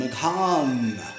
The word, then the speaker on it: Meghan: drama for Harry and Meghan. I pronounce his stupid wife's name Meghan because it's not Megan. That's not how you spell Megan. Megan is spelled M-E-G-A-N. This is M-E-G-H-A-N.